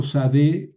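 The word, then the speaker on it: שדה: Por ejemplo, sadé quiere decir cambio, sadé. Ojo, es sin, no, no shin.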